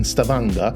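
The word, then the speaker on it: Stavanger: After a short stop in Stavanga, and yes, apparently this is indeed how you pronounce it, the ferry glides deeper into the labyrinth of scaries and fjords.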